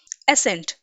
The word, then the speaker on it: ascent: एंड the second word we are having is ASCENT, बट दोनों ही words का pronunciation similar होता है, एसेंट।